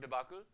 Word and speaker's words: debacle: be the answer for TR next we have debacle actually it's pronounced debacle debacle uh is a sudden situation something that